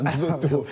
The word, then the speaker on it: Nzoto: congolais, Fally Ipupa, qui dévoile son nouveau titre, Nzoto. Exact, vous avez très bien prononcé ça, Nzoto.